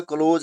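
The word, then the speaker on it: close: Spelling same है लेकिन pronunciation इसकी सेम नहीं है। तो ये जो बंद करने वाला क्लोज है, उसकी जो राइमिंग आवाज निकलती है वो किसकी तरह निकलती है?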